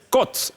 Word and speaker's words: côte: Il fallait dire côte. Il faut faire attention à ma façon de prononcer.